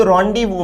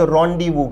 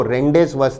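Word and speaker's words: rendezvous: देखने में ये जरूर आपको रेंडेस वस दिखता होगा। उच्चारण है रोंडीवु।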